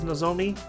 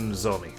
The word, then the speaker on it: Nomi: I need to stop saying no and just go with Nomi.